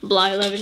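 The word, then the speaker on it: Blyleven: Brett Bly 11. Or Bly 11, yes, that's right.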